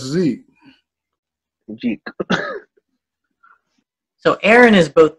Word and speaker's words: Zeke: Every time they say his name, they're like, Jeek. I mean, it's funny because like Americans are the only people that don't actually pronounce things how they are. Like they call it as, like the letter Z. If it's Z, then it is Zeke.